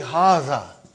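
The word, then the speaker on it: هذا: See, it is pronounced like Haza.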